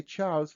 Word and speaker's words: Charles: So practically when we say Charles, we pronounce kind of S at the end, but we write Z, Charles.